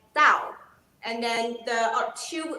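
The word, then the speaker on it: 倒: is upside down in upside down in chinese pronounced as dao and then the or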